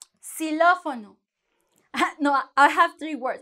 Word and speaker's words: xilófono: So you would say, when it's in the beginning of the word, you're going to have the sound S. Xilófono.